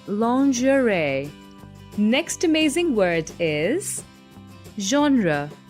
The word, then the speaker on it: lingerie: this one haven't you well it's pronunciation is quite tricky though it's lingerie next amazing word is